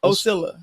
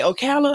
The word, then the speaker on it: Ocilla: Ocilla. Ocilla. People usually say Ocala. I'm like, no, that's Florida. That's Florida. Yeah, it's Florida. Yeah. Not the same.